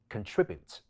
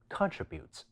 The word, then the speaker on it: contribute: 兩個匙，英式或者尾聲嘅標準發音，都會將重音放喺第二音節，即係 contribute 同埋 distribute , 而息發